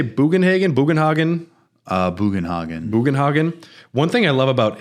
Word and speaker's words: Bugenhagen: Bugenhagen.